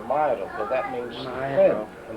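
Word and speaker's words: Mauro: But my father never pronounced it Negro. Never. What did he say? Said the way it's supposed to be, Mairo, but that means Mairo.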